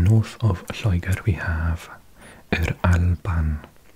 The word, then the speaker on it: Yr Alban: Now sometimes we put the word for the, which is either a Y by itself, pronounced or if the word starts with a vowel, we have it with an R as well, so Yr Alban.